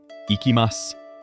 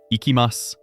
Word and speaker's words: いきます: The word is ikimas. I will say it first. Ikimas. Now your turn to say it. Ikimas.